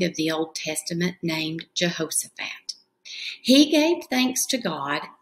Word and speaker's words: Jehoshaphat: And if we clap it out, it has a lot of syllables. Jehoshaphat. Four syllables in that word.